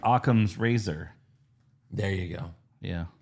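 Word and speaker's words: Akam: their names couple times used to be aim and razar now it's aam and razar yeah that's hilarious and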